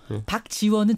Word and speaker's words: 박지원: 잠깐만요, 제가 여기서 여러분 발음을 잘해야 돼요. 박주원하고 박지원은 전혀 다른 사람입니다.